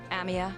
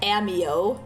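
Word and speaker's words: Amiya: because in the league she literally pronounced Amia as like amio and it was like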